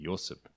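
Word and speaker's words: Ioseb: As Yosef, actually, in Georgian, I believe it's I-O-S-E-B, Yosef.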